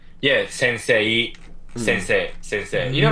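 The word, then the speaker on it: 先生: You would read it as sensei because you see e, so you're like, oh, so that's read as sensei, but it's not. It's sensei.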